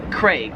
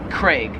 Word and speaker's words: Craig: In Australia they pronounce it Craig. They really emphasize that A, Craig. Whereas in America we just kind of pronounce that name as like as if it had an E, like C-R-E-G, Craig.